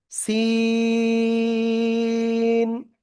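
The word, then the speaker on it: س: দেখেন এই যে অক্ষরটা, জিহ্বার আগার সামনে নিচে দুই দাঁতের পেট ও আগার সাথে লাগিয়ে এই অক্ষরটা আপনার উচ্চারণ করতে হবে। ঠিক আছে? চার আলিফটা নিয়ে, কয় আলিফ? চার আলিফটা নিয়ে, সিন।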